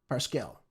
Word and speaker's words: Parscale: Instead, what Pas- Parscale Parscale, yeah, that's how you say his name.